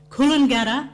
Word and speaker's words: Coolangatta: jungle at TJ jungler Coolangatta is Coolangatta because D is T is pronounced like a D Coolangatta P is pronounced like